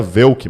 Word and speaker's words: Wohlke: Para me encontrar no Instagram, segue lá, @de, Volk, WOHLKE. Não era Vilk. A pronúncia Vilk. correta teria um trema no O e você falaria Velk, mas para facilitar a vida eu falei Volk.